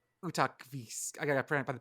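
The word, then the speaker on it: Utqiaġvik: It's Utakvis. I got to by the pronunciation.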